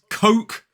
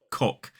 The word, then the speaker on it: Coke: This drink is Coke, K-O-K. It is not pronounced cock. So it's all about that vowel sound. It's an O, not an O.